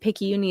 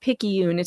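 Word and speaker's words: picayune: At the risk of being too late, pickyuni is pronounced pickyun. It's a great word for fussy pickiness. I thought it was pickyuni, but I could be wrong.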